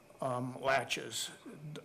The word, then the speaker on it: laches: the doctrine doctrine of laches if you haven't heard of that term doctrine of laches it it's spelt laches la TCH yes just like a door latch and doctrine of laches